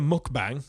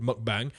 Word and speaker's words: mukbang: Anyway, and he's doing a mukbang, which I think is how it's pronounced.